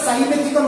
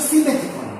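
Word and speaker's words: simethicone: ঠিক আছে, যেমন হচ্ছে সিমেথিকন, অনেকে আমরা সাইমেথিকন বলি, অ্যাকচুয়াল প্রোনাউন্সিয়েশন হচ্ছে সিমেথিকন।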